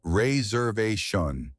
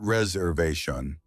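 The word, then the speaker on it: réservation: It's pronounced Ray Zerve Shanun, darling, not reserve.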